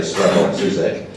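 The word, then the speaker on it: Slavoj Žižek: One, and I should learn to pronounce this fellow's name, I say Slavoj Zizek. I have a horrible feeling that is very bad Slovenian, so my apologies to any Slovenians here.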